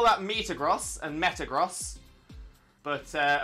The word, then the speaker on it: Metagross: and Metagross but uh of course gross makes the most sense there mainly because that's how you pronounce gross both in the like Financial way and the oh that's gross kind of way yeah Metagross I probably